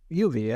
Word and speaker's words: Ubi: uh UB UB Cloud how do you say U UB UB Cloud yeah yuie okay uie yeah like Ubisoft uh but Cloud yeah